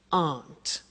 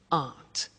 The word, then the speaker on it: aren't: they aren't cheap so the difficult here is the pronunciation of AR not which is Aunt okay Aunt good so that's the